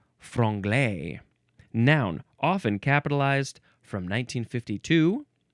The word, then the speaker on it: franglais: Our last word is frungle. F R A N G L A I S. Frugle.